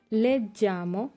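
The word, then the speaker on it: leggi: আর বাকিগুলো তু লেজ্জি জয়ের মতো, লুই লেই লেজ্জে এখানেও জয়ের মতো, নই লেজ্জামো বই লেজ্জেতে এগুলো জয়ের মতো উচ্চারণ হয়েছে।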